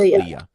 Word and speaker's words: Leah: I pronounce it right is it just Lee Leah Leah okay Le Leah Leah okay so so